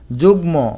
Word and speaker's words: যুগ্ম: শব্দের শেষের ম ফলা উচ্চারিত হয়। যেমন বাগমি এখানে ম এর উচ্চারণ হবে। যুগ্ম এখানে ময় এর উচ্চারণ হবে।